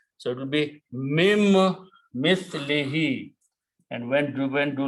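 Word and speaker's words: مِن مِّثْلِهِ: happen in the recitation when a noon and a meme come together. Then the sound of noon goes away and sound of meme becomes twice. So that's the reason we will put a shadda on meme, that do not pronounce noon, but pronounce meme twice.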